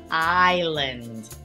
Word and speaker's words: island: silent s in Island we don't want to hear that s pronounced Island tricky silent letter and